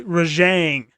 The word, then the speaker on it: Rajang: There's no, you don't stop at the J. It's a softer Rajang, not J.